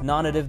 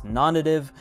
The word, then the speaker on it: Nonnative: shoes known as the twin strike now I pronounced nonnative the way you're hearing me say it right now which is nonnative many people have pronounced it non-native I'm almost